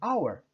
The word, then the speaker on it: hour: é o som ok observe que hour começa com h mas eu não pronuncio ele então vencer and our olha só ano novo